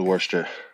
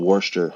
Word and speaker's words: Worcester: brother lives in wor in a city called Worster how you say it yeah no wor Shire yeah no there's a city there's a city called Worster wor in Boston that's what it is Worster